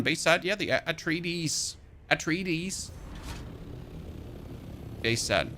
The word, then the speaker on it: Atreides: Atreides. Base set. I was told that I need to pronounce the deeds at the end of the Atreides, where I'm doing things wrong.